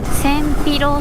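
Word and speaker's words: 千尋: Senpiro, Senpiro. Nó dường như được đọc là Chihiro bình thường.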